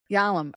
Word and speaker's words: Yalom: How do you say his last name? Yalom? Yalom, Irving Yalom, Yeah.